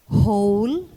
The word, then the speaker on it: whole: who spelled as w-h-o whole spelled w-h-o-l-e whose spelled w-h-o-s-e and whom spelled w-h-o-m and their compounds are exceptional for in this words the w is silent in their pronunciation let's practice the following